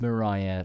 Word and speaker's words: Maria: uh I sorry sorry it's pronounced Mariah but it's spelled Maria is that right Mariah right okay okay